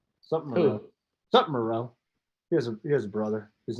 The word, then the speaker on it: Moreau: I didn't say Monroe. I said Moreau. How do you say his name? This is not Hoop with Chipotle. Okay. How do you say his name? Foster Moreau.